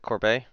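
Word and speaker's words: Courbet: to a battle division is that how you pronounce it Corby yes okay um there we go battle divisions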